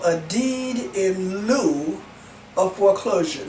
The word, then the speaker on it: lieu: call a deed in lieu of foreclosure not mary lou not sarilu but a deed in lieu of foreclosure and that's spelled l-i-e-u okay deed in lieu